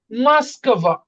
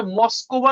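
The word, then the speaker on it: Москва: ওটা আর মতন উচ্চারণ হবে। যেহেতু ওর উপরে স্ট্রেস পড়ে নাই। এই কারণে হচ্ছে মসকবা না মাসকবা।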